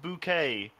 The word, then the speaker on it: Bouquet: So you're running in with Hyacinth Bouquet. Yay! It's pronounced bouquet.